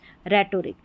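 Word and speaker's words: rhetoric: आर एच को र क्यों पढ़ा, क्योंकि एच यहाँ पर साइलेंट है, देखिए राइनो, राइम, रिदम, रेटोरिक, यहाँ पर हिंदी में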